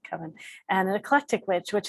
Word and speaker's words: coven: of any sort and how that word is pronounced i've just always said kevin and an eclectic witch